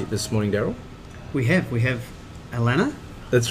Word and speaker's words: Allanah: We have Allanah. That's right. You got the pronunciation right.